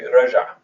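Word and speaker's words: رجع: So to say he returned, we say raja, raja, ala fatha fatha, raja, right? 2 syllables, 2 fathas.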